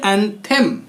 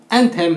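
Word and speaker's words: anthem: दूसरा word एंथेम। एंथेम नहीं, एंथम। जी हाँ, क्या? एंथम। एंथम पढ़ते हैं इसको, इसका उच्चारण होता है एंथम।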